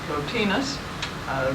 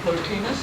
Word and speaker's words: Plotinus: Plotinus, who is so frequently quoted by HPB, some pronounce it Plotinus. The Greek is not absolutely certain, so if you prefer Plotinus, I have no objection to that.